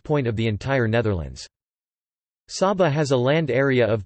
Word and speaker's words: Saba: Saba, Dutch pronunciation, Sa-ba, is a Caribbean island which is the smallest special municipality officially public body of the Netherlands.